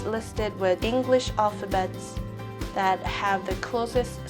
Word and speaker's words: 하: Among the 5 syllables, the third one, ha, is a combination of a consonant that has h sound and a vowel a. So it's read ha.